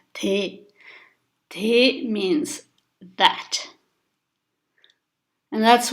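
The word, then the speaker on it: དེ: The first one, so it's a letter ta with the vowel sound e, so it becomes te.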